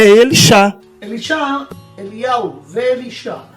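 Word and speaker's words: אלישע: E a pronúncia é Elixá. Elixá, Eliel, Elixá. A pronúncia Elixá e não Elisha. E nós ainda desconfiamos que não é Elisha, é Alixá.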